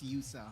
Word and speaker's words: Yusa: Okay, it's not Yosa, it's Yusa.